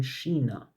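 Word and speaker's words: China: چین هم سینا بوده الانم تو زبان آلمانی چین رو نه چاینا میگن نه چین میگن میگن شینا و یعنی به اون تلفظ نزدیکتره به سینای نزدیک‌تری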